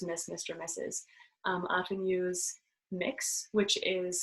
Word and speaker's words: Mx: Often use mix, which is spelled MX and pronounced MIX.